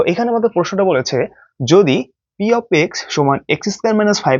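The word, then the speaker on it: p(x): করি এভাবে তাই না এটাকে লিখি ঠিকই বাট উচ্চারণ করি পি এক্স বাট এটা কিন্তু পি এক্স না এটার উচ্চারণ হচ্ছে পি অফ এক্স পি অফ এক্স অর্থাৎ এই ব্রাকেট থাকলে অফ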